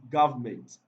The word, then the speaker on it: government: another good example is government government government the syllabus that is stressed in the world government is gov gov god gav and not meant okay so option b